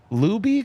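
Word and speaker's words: Laube: Dylan Luby. Could you guys help me out with that pronunciation? I thought it was Lob. But I There could you be go. wrong. Lob.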